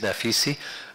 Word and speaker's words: Naficy: so my name is pronounced nafisi I was born in Iran and um in